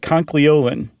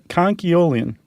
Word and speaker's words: conchyolin: Conchyolin. Yeah, you're throwing that L in there. Oh. It's very easy to want to do.